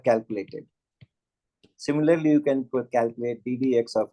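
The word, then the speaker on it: d/dx: It is not upon, it is not pronounced as upon, it is pronounced as either d dx of x square or dx square dx, and it is this.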